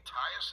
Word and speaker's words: Tyus: This could be Anthony Tyus. Is that how you pronounce his name?